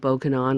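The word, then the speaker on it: Bokonon: to this very day how he came by the name of okanon was very simple was the pronunciation given the name Johnson and the Island's English dialect as for the dialect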